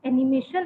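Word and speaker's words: anime: तो उसका reaction was कि मम्मा ये जो एनिमेशन है ना, फर्स्ट ऑफ ऑल तो आप उसको सही प्रोनाउंस करना वो सीखो कि इट इज एनिमे.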